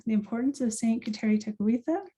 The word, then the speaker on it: Tekakwitha: importance of saint kateri takawita that's how my people pronounce her name i've been taught that